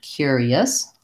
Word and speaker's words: curious: you're finally cure cure and then our letter I says the e sound in this word cure E and finally we have a schwa and an Assad curious long short short curious the difference in